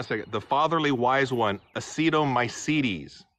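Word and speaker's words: actinomycetes: the fatherly wise one acetomycedes pronounced uh tin my seed teas according to Google that's so a-c-t-i-n o-m-y-c-e-t-e-s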